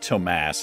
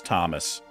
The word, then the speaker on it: Thomas: one of the episodes it's not tomas it's thomas i don't know why